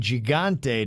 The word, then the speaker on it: Gigante: lesson for you Kev when you say Gigante don't say the g like GI Joe say it like my name Jose uh yeah you know what